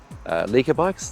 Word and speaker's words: Lekker: And when I did that, I kid you not, I decided, a bit crazy, I'll ride from North Melbourne, the Lekker Bikes, Lekker Bikes, that's how you say it, yeah, Lekker Bikes, all the way to home.